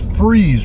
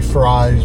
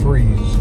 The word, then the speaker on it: Fry Road: It is freeze road for some reason. Looks like continue for four miles. Looks like it should be fries, but they pronounce it as freeze less than a mile away from the campsite now.